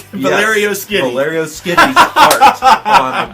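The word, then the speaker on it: Valerio Schiti: but I found out that the name is pronounced Skitty is it skiddy for real so it's Valerio Skitty Valerio skitty's art on the book so oh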